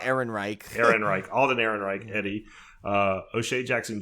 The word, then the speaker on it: Ehrenreich: I called him Alden Reich, so I always butchered it. Yeah. But it's Ehrenreich.